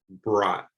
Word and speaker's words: brought: what to say but take a look at this word that you already know not not and then just rhyme it bra so here the oh you makes just that o the ah sound brought try it one more